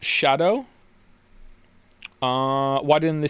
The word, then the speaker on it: Scadu: me did you know apparently scadu is pronounced Shadow uh why didn't they